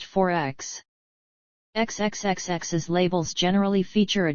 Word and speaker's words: XXXX: an australian-like continent is named XXX pronounced 4X xxx's labels generally feature